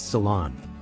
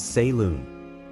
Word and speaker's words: salon: you pronounce this one it is pronounced as Salon usually mispronounced as Salon Salon refers to a place for beauty treatments like hairdressing or historically An Elegant room for Gatherings of intellectuals and artists the stress is on the second syllable and the O has a soft open Sound example she visited the